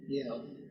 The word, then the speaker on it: Yale: Yale.